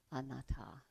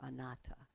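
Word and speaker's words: anattā: dissatisfaction that's duka and not self anata or anata as se several ways of pronunciation they all do.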